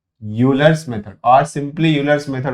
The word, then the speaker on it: Euler: Using, this is actual pronunciation is Euler's, but we Indians call it as Euler's method.